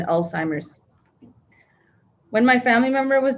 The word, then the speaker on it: Alzheimer's: I admit I was the one who pronounced it old-timers rather than Alzheimer's.